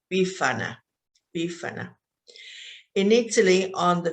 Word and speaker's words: Befana: about it so this which is called befania bifanya of course if you are italian you may pronounce it a little different bifana bifana in italy on